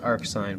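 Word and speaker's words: arcsine: of 3 over 5 it's actually pronounced arc sign but don't worry about that so we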